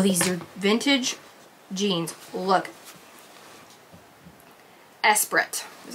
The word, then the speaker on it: Esprit: about this oh these are vintage jeans look esprit is how you say it esperant e-spirit these